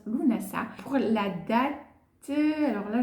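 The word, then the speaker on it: Lughnasadh: Ensuite, on va avoir, donc entre le solstice d'été et l'équinoxe d'automne, on va avoir Lunasa, qui s'écrit Lugnasad, il se prononce Lunasa.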